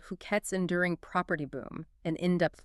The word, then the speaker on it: Phuket: just booming, we're talking about Phuket, and that's Phuket, just so we're all saying it right.